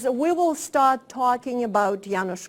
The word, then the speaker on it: Janusz: Association, that is to practice pronouncing the word Janusz and then Korczak. Because whatever it is pronounced in this hemisphere, it's always wrong. So, so let's try it together. Janusz Korczak.